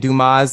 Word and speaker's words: Dumas: But it is pronounced like the original spelling of my name, which is, and Dumas, my middle name, and the S is silent.